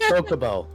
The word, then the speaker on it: Chocobo: It's Chocobo. pronounced Chocobo. Not chalk. Choke.